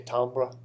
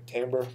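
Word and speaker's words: timbre: to say timber but it's actually a French word so we say tambra okay tamber okay is how people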